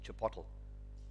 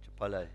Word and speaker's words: chipotle: it, but I don't think it's the correct pronunciation, is chipotle. Chipotle in the States.